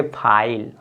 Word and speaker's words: file: इसको फिले नहीं पढ़ेंगे, इसको पढ़ेंगे फाइल।